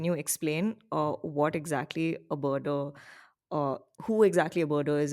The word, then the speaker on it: birder: to but yeah, so you're also a bird watcher, birdier, is that the right way to say it? Birdier. Birder is something that's commonly used.